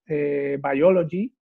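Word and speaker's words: Buyology: El libro se llama Biology, que se pronuncia igual que biología, pero en realidad ese by inicial es by de comprar, ¿no?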